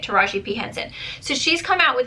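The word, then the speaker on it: Taraji P. Henson: Okay, that's how you say it, Taraji P Henson.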